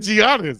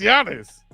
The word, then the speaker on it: Giannis: for the D after the way you just pronouncing his name he wouldn't even know you talking to him well you said Giannis it's Giannis I been I ain't trying to pick him